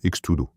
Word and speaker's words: X-Tudo: Le nom utilise la lettre X qui en portugais se prononce de manière similaire au mot anglais cheese et tudo qui signifie tout.